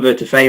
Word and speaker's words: Vertefeuille: and and answers so my name is vertifay and well done with the pronunciation there Julia and uh 10 out of